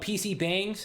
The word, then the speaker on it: PC bang: There are public places called PC Bangs, the right pronunciation is PCbang, where people can play